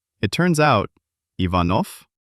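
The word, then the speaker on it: Иванов: So, using logic, if it gets devoiced, then instead of v at the end, it should be f. It turns out, Ivanov. Exactly. Ivanov.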